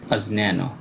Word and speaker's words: অজ্ঞান: আমরা যদি এটাকে বাংলা গ্রন্থে পেয়ে থাকি কোনো পাঠ্য বইয়ে তাহলে বলি অজ্ঞান বা জ্ঞান, কিন্তু এটাকে আমরা যদি সংস্কৃত কোনো গ্রন্থে পাই, সংস্কৃত কোনো শ্লোকে পাই তাহলে এর উচ্চারণটা আমরা করব আজন্যান।